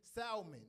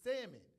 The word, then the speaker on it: salmon: It's like saying salmon and pronouncing the L. You look crazy out here. It's salmon, and it's second annual.